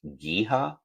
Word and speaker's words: Geha: I think it's pronounced Giha or Giha Field. So it's Giha Field at Arrowhead Stadium. It's spelled Geha.